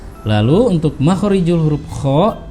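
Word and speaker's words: خ: lalu untuk makhorijul huruf Kho itu harus ada getarannya ya Kho tidak boleh Kho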